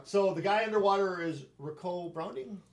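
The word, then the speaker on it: Ricou: the guy underwater is ricoh browning rico yeah but it's spelled r-i-c-o-u which i've never seen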